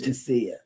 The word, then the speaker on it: Fantasia: It's not Fantasia or Fantia. Fantia. They pronounced it fantasia, but it's Fantia.